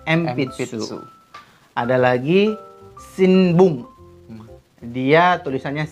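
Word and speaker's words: 鉛筆: Tulisannya adalah Enpitsu, tapi membacanya Empitsu.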